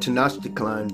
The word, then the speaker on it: Tenochtitlan: Beginning shortly after the fall of Tenochtitlan, the Aztec capital, yeah, that's how it's pronounced, I had to look it up, and continuing through 3 centuries of Spanish rule.